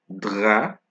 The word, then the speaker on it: drap: Then we have drap, and coup. All right, coup. As you can see, whenever I pronounce these words, you cannot hear the P at the end.